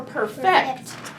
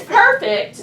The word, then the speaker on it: perfect: gonna brag on you so perfect or perfect it could be either one you're making it better okay as a verb it's perfect I believe it's an adjective perfect perfect like a perfect